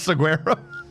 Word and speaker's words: saguaro: It's saguaro. Spanish, not British. The G is often silent in Spanish.